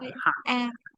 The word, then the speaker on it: heart: Cái từ trái tim các bạn đọc là gì? Hurt. Âm ơ hả? Trái tim Hurt. ra là âm a các bạn. Heart.